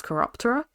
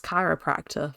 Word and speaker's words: Chiroptera: the Bats, or House Chiroptera, which I actually know how to pronounce this year. I kept on saying House Chiropractor for a good chunk of November there. Not good.